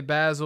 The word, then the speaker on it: Bassil: I don't get as pissed anymore, but I still tell him like, nah, it's Basil. Yeah. Basil. My wife, her name is Andrina, but the way it's spelled, it looks like it says Andriana.